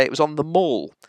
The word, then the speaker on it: The Mall: It's the Mall. Ask the Queen, she knows. It's the Mall, that's where she lives. Not the Mall, that's where you go shopping.